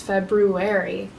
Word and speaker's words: February: By the way, I think I've been saying it wrong. The month wrong. February. But when I say it fast, I feel like February. The right way to say it is February.